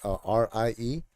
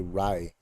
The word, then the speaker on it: Rie: And they say Rai, R-I-E. They say Rai, even though in Japanese it's Rie and in Spanish it's Rie.